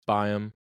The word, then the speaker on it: BAYEM: Ado here is my conversation with biome hello welcome to the podcast biome correct is that the right pronunciation yeah yeah it's uh it's Bim technically BM but everyone just calls me it makes more sense it's easier I guess